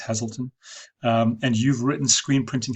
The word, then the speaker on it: Hazleton: So, for example, if someone was searching for screen printing Hazleton, I think it's pronounced Hazleton, and you've written screen printing Hazleton into your